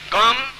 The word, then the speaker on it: गम: बोलिए ओम गम। अब देखिए मैं म बोला है, गंग नहीं बोला है, गंग नहीं बोलना है, गम बोलना है।